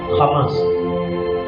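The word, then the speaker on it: חמס: from a Hebrew word Hamas c h a m a s it is mentioned ha not CH Hamas pronunciation is k h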